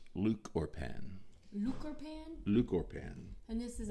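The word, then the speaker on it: lúchorpán: And it's pronounced Luchorpan.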